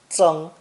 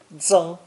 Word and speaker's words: 增: By adding the earth radical, we have the third character in today's lesson, pronounced first tone, zeng, zeng.